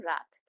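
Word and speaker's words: wreath: मैं डब्ल्यू को प्रोनाउंस नहीं कर रही हूं। आर से प्रोनाउंसिएशन कर रही हूं। रैथ।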